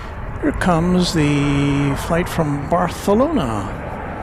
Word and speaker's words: Barcelona: Here comes the flight from Baralona. I only say it that way cuz that's how you pronounce that. They have that in Baralona. They have that kind of a lisp associated with the th sound.